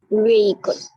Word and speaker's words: vehicle: Vehicle. So let's try to understand how do we pronounce it. We call it vehicle. It is not vehicle, it's vehicle. What is it? V. Long E sound is there.